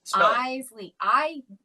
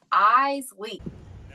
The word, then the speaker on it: Iseli: And so I put on there, pronounced eyes, like your eyes, and then dash Lee, L-E-E. Spell it. Iseli. E-Y-E-S, like your eyes, and then L-E-E, Lee, eyes, Lee.